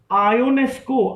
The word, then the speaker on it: Ionesco: जैसे यूनक बोलते हैं जब हम यूनक बोलते हैं तो स्पेलिंग तो ई से लिखते हैं ना. Eugene, EUGENE, Eugene. आयोनेस्को, IONESCO, आयोनेस्को, Eugene आयोनेस्को.